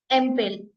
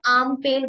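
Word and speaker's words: Ampel: है तो आप इसको अगर आप ऐसे देखोगे इंग्लिश के बेस प तो आप इसको बोलोगे एमल है ना ए साउंड नॉर्मली अगर हमको बोले आप जर्मन में प्रोनाउंस कीजिए तो आम पेल बोलोगे आ ए की साउंड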